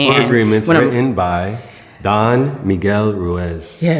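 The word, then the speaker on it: Don Miguel Ruiz: And man, Four Agreements written by Don Miguel Ruez. Yes. Yes. Thanks for pronouncing that right.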